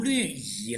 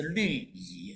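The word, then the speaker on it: 律仪: 小钟这是读律仪啦，哈，发音是律仪，哈，好的。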